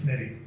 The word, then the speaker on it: NIDY: it's not an acronym, it's nitty.